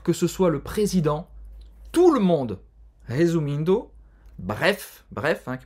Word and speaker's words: tout le monde: simples de você pronunciar, no francês eles falam diferente, tout le monde.